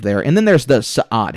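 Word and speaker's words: Sa'ad: and then there's the sad how was this pronounced in the book yeah just like s okay yeah cuz it's sa apostrophe ad so there are the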